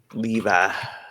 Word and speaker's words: Levi: How is it pronounced? Levi. Levi. Jeans. Okay. Yeah. Like the jeans.